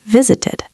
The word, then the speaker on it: visited: This only happens if the verb ends in a t or a d sound. Can you give us an example? Sure. Look at the word visit. It ends with a t. So in the past, we say visited.